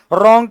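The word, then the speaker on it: wrong: इसलिए कनाइप का के साइलेंट, रॉन्ग का W साइलेंट, नॉलेज का के साइलेंट, सुनामी का टी साइलेंट, है कि नहीं।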